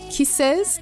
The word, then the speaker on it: KISSXS: on me by an r b singer named kises that's spelled k-i-s-s-x-s not with the name featuring rapper